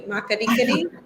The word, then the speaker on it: Makgadikgadi: Okay, now this one I have trouble pronouncing. MAKGADIKGADI? Very good. MAKGADIKGADI salt pans, which is part of the Greater Kalahari.